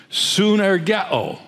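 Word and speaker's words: συνεργέω: This expression translates a word in the Greek language which is pronounced synergeo.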